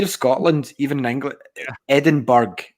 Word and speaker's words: Edinburgh: Edinburgh's pronounced correctly in there, like Edinburgh.